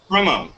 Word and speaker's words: Cremo: It's Cremo, correct? Cremo.